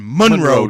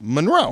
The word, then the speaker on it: Monroe: it's always been pronounced Monroe Monroe Marilyn Monroe emphasis on the second syllable but maybe I'm wrong